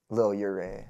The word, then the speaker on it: Lil Yurei: So is your name little yur or is it little yuri? Lil Yuri, I guess, is how you would pronounce it. I mean, everyone it's I say Yuri.